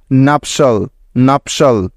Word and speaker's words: nuptial: তাহলে এই শব্দটির উচ্চারণ কি হবে? NUP নাপ এবং TIAL শল শল, নাপশল নাপশল।